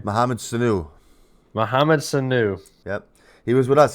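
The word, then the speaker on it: Sanu: you say his last name muhammad sulu muhammad sunu yep he was with us he has been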